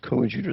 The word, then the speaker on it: coadjutor: It was coadjutor. That's how they pronounce it.